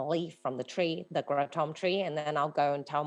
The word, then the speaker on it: kratom: Kratom, as you guys may know it, how we pronounce it is kratom.